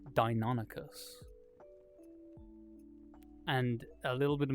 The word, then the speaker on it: Deinonychus: reading this book, and I'm like, oh yeah, Dinichius is like a real cool kind of raptor, and his kid like looks at me, he's like, it's pronounced Deinonychus.